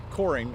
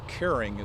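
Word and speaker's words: Koehring: Well, this particular one is was built in 1968 by the Coring, or actually Kering is the correct German pronunciation, company out of Milwaukee.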